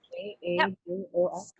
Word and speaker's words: Kajol: And then, is it Kajol? Is that how you say it? Kajol? K-A-J-O-L?